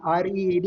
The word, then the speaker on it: read: ඉතින් මෙතෙන්දි මතක තියාගන්න මේ read කියන එක READ කියලා ලියන්නේ past participle ආකාරය READ ම තමයි spelling. නමුත් pronunciation එක අපි pronounce කරන්නේ read කියලා.